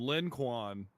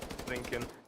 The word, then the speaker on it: Lincoln: I was calling him Lin Quan. Well, yeah, it's Lincoln.